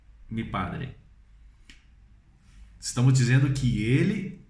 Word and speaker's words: el: A letra L em espanhol nós pronunciamos ele, mas na hora de falar nós temos que usar a língua no céu da boca.